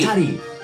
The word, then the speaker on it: Atari: Atari, win!